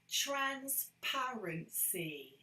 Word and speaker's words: transparency: syllables transparency okay transparency so where was the word stress there transparency it's here transparency that's where we focus the word stress transparency and a little bit